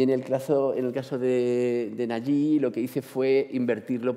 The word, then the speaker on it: Nagy: persona se me ha dicho que se dice Nagy, ¿no? Nagy. Sí, siempre me ha costado mucho pronunciar el nombre de nuestro amigo Laszlo.